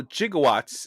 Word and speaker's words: gigawatt: been told Jose also jigawatts is now an obscure but once used pronunciation of the proper way of saying gigawatt but back then people